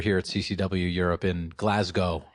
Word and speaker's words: Glasgow: We're here at CCW Europe in Glasgow. I think it's Glasgow, not Glasgow. Oh, yeah. Okay. Right? I've been saying it wrong.